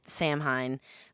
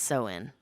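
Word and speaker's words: Samhain: that she's talking about I would say it Sam Hine but apparently it's pronounced soen oh which I don't know how you get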